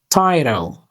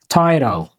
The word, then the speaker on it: tyro: Its pronunciation, Tyro. TY sounds like tie, RO sounds like row. Stress is on the first syllable. Tyro, Tyro.